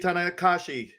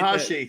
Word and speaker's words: Tanahashi: Hiroshi Tanakashi. Thank you, Ben. We appreciate Tanahashi. You gotta say his name correctly.